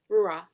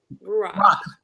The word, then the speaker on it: Ruach: radio personality host, but you own Ranch Live. Am I pronouncing that right? It's Broadcasting. Ruach. Ruach.